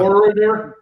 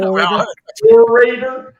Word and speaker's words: orator: I threw out orator wow oror I pronounced it wrong orator I wasn't Pat myself